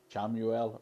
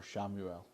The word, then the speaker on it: Chamuel: Well, it depends how you pronounce it. Chamuel or Shamuel.